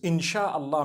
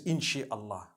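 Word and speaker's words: إن شاء الله: in means to create no one says inshi Allah they say insha Allah that's what it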